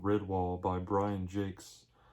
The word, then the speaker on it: Jacques: called redwall by brian jakes i've been pronouncing his name wrong for years it's actually jake's but i've been saying jock all the time brian jake